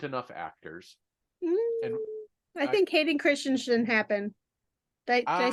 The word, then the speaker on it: Hayden Christensen: And I think Hayden Christensen happened.